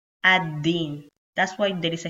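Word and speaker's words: الدين: after the article al, you will ignore the sound of lam and you will just pronounce da, ad-din.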